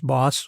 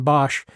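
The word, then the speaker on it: Hieronymus Bosch: Anyhow, and then bringing that up to date through Hieronymus Bos, and the correct way of pronouncing that is Boss, like be a boss. So rather than Bosch, even though it looks like that.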